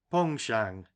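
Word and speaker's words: penchant: for fishing heavys sides that's a French word begging your pardon Mr barsley and pronounced pong Shang you see in the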